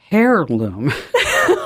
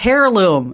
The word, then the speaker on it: heirloom: I said it as hair loom. Oh no. It's a heirloom. It's like, you know, like a barret. Um, no. Uh, and it's obviously it's heirloom.